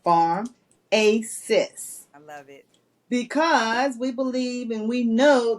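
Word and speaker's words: Farmacists: group is Pharmacists and it's spelled f-a-r-m like Farm a sis I love because we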